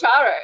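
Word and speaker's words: Guácharo: Gautaro? Is that how you pronounce it? Guacharo.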